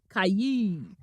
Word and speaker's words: Kayi: Kayi rhymes with pie, the sound made in old Western movies by the Indians.